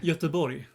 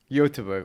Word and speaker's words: Göteborg: Göteborg. Göteborg. Oh, so that's like a Y, like Göteborg.